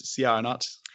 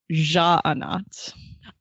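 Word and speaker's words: Sja-anat: I also, yes, while we were reading the beta, I was Syanat, but that was one of my questions for Brandon. I was like, how do you pronounce this? Because I want to know. That's a good question. And Brandon says Ja'anat.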